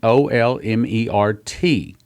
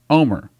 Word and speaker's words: Olmert: Now, you spell his name Olmert, but I've been to Israel. I've heard it pronounced in Israel by several people there, and in Israel it is pronounced Omer.